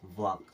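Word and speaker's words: walk: क्या हो गया खत्म इसे क्या पढ़ते हैं वक क्या पढ़ते हैं एम के लिए देख लीजिएगा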